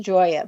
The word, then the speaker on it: Gioia: And I want to spell your last name for everyone because it's pronounced Joya, but it's spelled G I O I A.